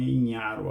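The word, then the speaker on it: Ignarro: E o outro foi o Louis Ignaro, né? Ignaro, que se escreve, mas eu acho que é a origem italiana, então é Ignaro a pronúncia correta, Louis Ignaro, que foi o que descobriu que tinha um fator externo.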